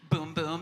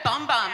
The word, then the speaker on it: Bum Bum: was oh, boom boom, boom boom cream, and I was yes. Yes. Because I was everyone calls it bum bum, and I'm my 4-year-old knows it's boom boom, and also knows how to pronounce Givenchy.